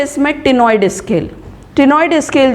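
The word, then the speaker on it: ctenoid: Last है इसमें टिनॉइड scale. टिनॉइड scale जो रहेगी, टिनोस का मतलब होता है कोम्ब, ठीक है। टिनॉइड सी साइलेंट होता है।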